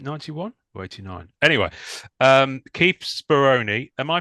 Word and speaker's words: Speroni: um is it 91 or 89 anyway um Keith speron am I pronouncing that correctly for a start nailed it